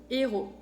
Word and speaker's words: héros: Después, la H es muda en francés, no se pronuncia.